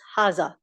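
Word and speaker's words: هذا: It is pronounced as haza, but the mud elongated alif on ha is not written. It is just pronounced.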